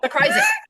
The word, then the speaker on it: Zakrajsek: Zakrajsek. There you Zakrajsek. go. Perfect. I spelled it phonetically and I still messed up.